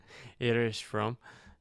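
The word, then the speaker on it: Erich Fromm: and why is that ah so that's how you actually pronounce it irish from um i've been saying it wrong um so two books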